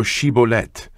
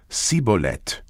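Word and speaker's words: Shibboleth: said they unto him say now she bolet and he said sibolet for he could not frame to pronounce it right then they took him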